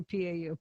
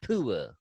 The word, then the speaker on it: PUA: PUA, I always say PAU. PUA, Pandemic Unemployment Assistance checks. PUA. It's PUA.